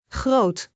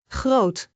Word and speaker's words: groot: Is a long o sound. Like in groot which means big. Let us break it down. Groot. Groot.